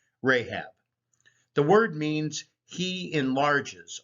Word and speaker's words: Rahab: now as we mentioned rahab was probably in the hebrew ray chav but the local semitic pronunciation of that area probably had it closer to rahab the word means he